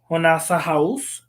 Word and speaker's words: Jonasa Jaus: her name properly, but it is written Jonasa Jaus or Jonasa House in Spanish because she does live in Spain. So in English, I just pronounce it as Jonasa Jaus.